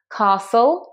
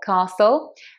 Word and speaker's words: castle: Remember, it's got that silent T. Castle. Castle.